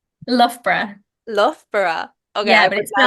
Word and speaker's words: Loughborough: Is it Loughborough? Loughborough. Loughborough. Okay, I Yeah, would but it's spelled never have Luga guessed.